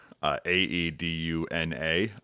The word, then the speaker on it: Aeduna: Aeduna. I looked up the pronunciation. It does involve you sounding kind of confused in the middle, just like I did.